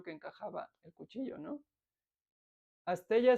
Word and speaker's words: asteya: Astella se escribe con Y. Astella. Astella. A-S-T-E-Y-A.